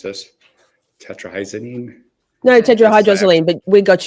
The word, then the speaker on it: tetrahydrozoline: if I mispronounce this, tetrahydrozoline, No, tetrahydrozoline, but we got you, active boo.